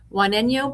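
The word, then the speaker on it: Juaneño: And would you help me make sure my my uh pronunciation is correct? You said Wano. Wano Band of Mission Indians, a Hatchiman nation.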